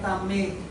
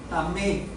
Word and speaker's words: tamé: En hebreo es la palabra tamé. Tamé, un acento en la E.